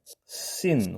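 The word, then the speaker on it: שׂין: 왼쪽에 이렇게 9분점을 찍습니다 발음은 S 발음이 되고요 S 발음 발음이기 때문에 씬 혹은 신이라고 한글로 보통 표기를 합니다 자 다른 하나의 모양은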